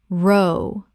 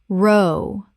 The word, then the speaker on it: row: row, like cow, the argument row, like go, to paddle 250 words done.